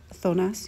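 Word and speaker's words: zonas: I would say in in Spanish it's thonas, you know, like all the neighborhoods.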